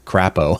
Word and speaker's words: Crapo: we had Senator Michael, his name Crapo, I think is how you pronounce it, Crapo. He was kind of he had Crapo. Like Marco Polo. Yeah, Marco Polo.